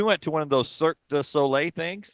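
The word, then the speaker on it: Cirque du Soleil: to one of those cir the solay things I have to say it like that because I used to say circus solay right which was never right and so you'll be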